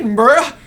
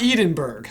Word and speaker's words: Edinburgh: [Southernish pronunciation] Edin-burr-ah. I feel like every single time I say that word, I'm, like, I'm taking a leap of faith over here. It's not Eden-burg. I know that much.